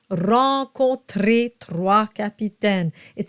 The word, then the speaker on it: trois: Rencontrer trois capitaines. Trois has a W sound to it, and you go straight to the A sound.